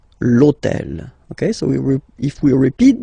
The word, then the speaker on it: l'hôtel: starts with H, but remember that in French we don't pronounce H, okay, so basically the first sound of the word is the vowel O, okay, so for the same reason, E needs to disappear.